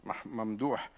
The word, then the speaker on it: Mamdouh: And as you, Mamdouh, as you, sorry, I pronounce it the Egyptian way.